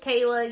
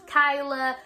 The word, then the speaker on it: Kaila: A lot of people think it's Kyla. I even get Kalia. I don't know how people get Kalia.